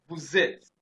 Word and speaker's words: vous êtes: We have a vowel here and we have a vowel here. So the S there is now pronounced as Z.